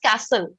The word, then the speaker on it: castle: ये जो T है इसका pronunciation नहीं होता है. It is castle. Okay, T लिखते हैं but उसको pronounce नहीं करते. It is a silent letter. So the pronunciation is castle.